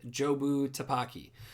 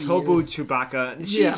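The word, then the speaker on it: Jobu Tupaki: And it's a weird name, and it's actually pretty funny because throughout the whole movie, Evelyn pronounces it wrong. Yeah, she calls it like something Chewbacca, Taki. Tobu Chewbacca.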